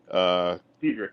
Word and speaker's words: Dedrick: Dedrick, yes, sir. I keep looking at your name and want to pronounce the E as a soft E for some reason.